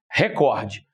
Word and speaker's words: recorde: E se você voltar de recordista, você vai cair no cor, indicando que é a sílaba mais forte.